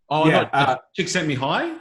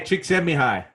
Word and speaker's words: Csikszentmihalyi: me hey chickie 200 Csikszentmihalyi is it yes yes yes Mihai yeah yeah yes but if you read it you'll never pronounce it I won that one B hey chick semi-high yeah but but he